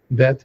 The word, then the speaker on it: Bet: Now, it's actually pronounced Bet. Bet, not th, but Bet.